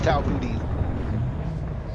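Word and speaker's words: Tau Boötis: I actually said it right. It is tow booty.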